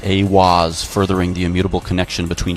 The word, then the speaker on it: eihwaz: and channeled the divinity eihwaz pronounced a waz furthering the immutable connection